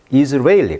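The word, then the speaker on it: Israeli: 이즈리얼, 이스라엘 발음을 영어로 발음은 이즈리얼이고 이스라엘 사람이란 것은 이스라엘리, 강세가 이음절에 있어요.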